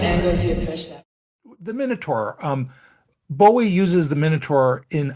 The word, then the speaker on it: Minotaur: I think, and I'll also use the pronunciation Minotaur, right? I think the British pronunciation is Minotaur, Yeah. and it's King Minos or King Minos, and then it's the Minotaur, the Minotaur. So we'll just say Minotaur.